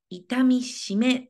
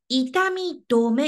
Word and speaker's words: 痛み止め: 痛み止め 3 痛み止め 4 痛みしめ排気症はい決めました行くよ正解はね 2 番痛み止め」って読みますこれ痛み止めはもう